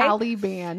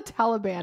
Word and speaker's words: Taliban: well it's true okay talian it's called the Taliban the T okay well I am